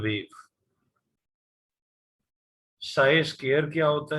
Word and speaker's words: psi: PSI, P silent है तो साई कहते हैं इसे.